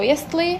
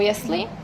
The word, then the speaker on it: jestli: Porque hay estas dos opciones, por ejemplo, jestli o jestli. Cuál os gusta, pues podéis elegir.